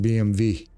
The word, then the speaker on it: BMW: Anytime we say BMW, it's actually, because in their language, they pronounce it BMV.